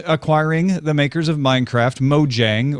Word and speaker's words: Mojang: the makers of minecraft mojang or mo yung if you want to mispronounce it in swedish like i just did for 2.5 billion